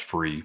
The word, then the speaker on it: Frueh: Chris Frueh, and it is Frueh. It's pronounced free, but just if you are listening, make sure you search on Amazon with that spelling, and you're going to find it.